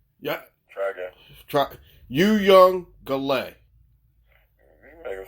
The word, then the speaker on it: Uiagalelei: I think his name is Uiagalelei. Uiagalelei. Yeah. Try again. Uiagalelei.